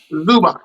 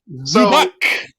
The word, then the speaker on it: Zubac: The guy that won that nobody can pronounce his name right. And we all just give him a nickname. Zubac. There you go. Zubac.